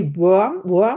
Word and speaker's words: Wurm: Thomas, you say worm, right? You pronounce Yes. Yes. Thomas Wurm.